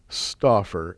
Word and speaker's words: Stauffer: The Stauffer offer at the end, too. Let me say it correctly. Stauffer.